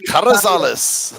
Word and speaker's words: Carrizales: Carrizales. If you really want to be ethnic about it, roll your R's. And That's what I did. Carrizales.